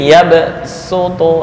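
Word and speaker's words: يبسط: Khalil bin Ahmad alfarahidi menjadi yabsutu lebih utama dibaca SH daripada Shad karena ada tanda eh Sin di atas nih ini kalau digedein begini Ya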